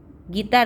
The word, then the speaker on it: guitar: I am playing gitar ya. Gitar ya, gitar. Gitar Made ya, gitar. Jadi U-nya jangan dibaca, jangan guitar tapi gitar ya, tetap gitar bacanya ya.